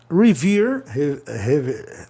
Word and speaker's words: revere: Revere, né? Reverendar, né? Revere. E reverência, reverence. Revere tá certo, é verbo, vogal, consoante E, o E com som de I, revere.